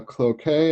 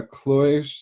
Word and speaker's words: cloche: Historically, people used what they call a cloquet, a cloche, depending on how you want to pronounce it, which is a glass bell jar.